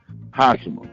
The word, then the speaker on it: Hashima: it like this my when my mom called my name she calls me Hashima that's that's the way she pronounced it and I'll go with that's the correct pronunciation now how he got